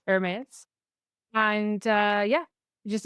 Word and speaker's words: Hermes: And say it like the French, like the fashion house Hermes.